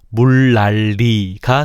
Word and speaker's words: 물난리: 물난리를 보자. 물난리가 아니라 물리지의 초성 리은과 종성리은이 둘 다 리을로 바뀌었으니 번 일어난게 맞네. 화가 일어난 순서를 볼까? 만약 초성 니은이 먼저 바뀌었다고 가정하면 물난리 물난리 물랄리가 되겠네.